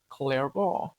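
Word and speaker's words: Clairaut: Next up is Clarable's theorem pronounced clear.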